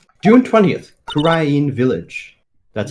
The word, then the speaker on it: Kurain: June 20th, Kurain Village. That's how it's pronounced.